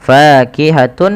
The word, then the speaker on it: فاكهة: Fakihatun menjadi fakihatu. Langkah yang kedua yaitu ditahan suara wawnya.